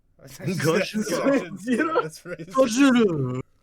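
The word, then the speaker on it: ゴジラ: Gojira. Gojira. It's Gojira.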